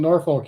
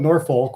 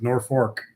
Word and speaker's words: Norfolk: east of me but I call it Norfolk which is I believe the proper way to say that word Norfolk but everybody in Nebraska calls it North Fork not sure where they get North Fork out of that word but that's what they